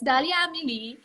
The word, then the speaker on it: Dahlia Amélie: And then for Amélie, actually, ang dami nagtatanong, how do you say Dahlia's name? So it's Dahlia Amélie.